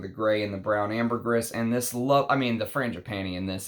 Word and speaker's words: ambergris: Now, Amber Cologne is a ambergris fragrance, and according to a ambergris collector, you are supposed to say the S. It's not ambergris. It's ambergris. Is the proper way to say it.